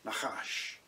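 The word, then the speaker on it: נחש: This comes from the fact that the word nakash, without vowels in its root form, when pronounced, sounds something like a hissing noise, nakash.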